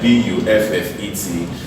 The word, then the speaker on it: buffet: We have other words like BUFFET. This is pronounced as buffet.